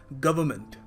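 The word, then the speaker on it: government: देखो यहां पर इस वर्ड में ना आर और जो एन है ना उसको आपको प्रोनाउंस करना नहीं है वैसे मगर लोग कुछ छोड़ते नहीं है। लोग कहते हैं वर्ड है तो बोलो उसको वो है क्यों फिर देखो सही वैसे बिल्कुल एप्रोप्रियट तरीका होगा इसको प्रोनाउंस करने का गवर्नमेंट गवर्नमेंट मगर हम लोग गवर्नमेंट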